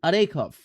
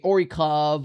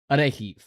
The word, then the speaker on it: Orikhiv: And yes, before I again, um, go any further, I used to say Orikhiv or Orkhiv. Well, apparently the correct way to pronounce this town's name is Orekhov or Orekhiv.